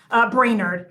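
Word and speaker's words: Brainard: Because interest rates, based on what Brainerd, and that's how you say her name. I said Bernard earlier.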